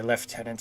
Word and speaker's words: lieutenant: now second lieutenant or as the brits say lieutenant i never understood where the f came from and the same medals